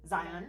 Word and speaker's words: Zion: Zion, yeah.